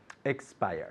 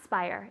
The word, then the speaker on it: expire: Expire. Good, and at home, make sure you're putting lots of emphasis on X. It's not spire, it's expire, 2 syllables.